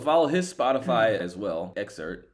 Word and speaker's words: EXVRT: Exert but it's spelled EXVRT.